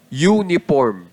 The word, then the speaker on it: uniform: Pag sinabi kong uniform ang unang letra po na nabibigkas natin ay Y Hindi po u y ganun po yung y o u parang ganun ang pagkakabigkas mo u y at pag y po Kasali po yan sa tunog consonant kaya a uniform kaya sinasabi